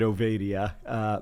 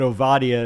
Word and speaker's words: Ovadia: So the interesting thing is my family has always pronounced it Ovadia, but Ovadia is the technically correct way to pronounce it.